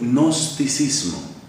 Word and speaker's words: gnosticismo: s m o gnosticismo Pero por qué se escribe con con esa g que no tiene nada que ver con el sonido que uno luego dice esa g es como muda un caso singular en